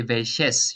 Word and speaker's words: welches: E before that, as it is a pronunciation problem to say welches. You say welches. You always put an E if you have two consonants following each other in German that you cannot pronounce. So welches.